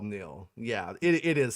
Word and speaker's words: Neel: His name is Neel, just like fucking Neil Armstrong, Neil Diamond.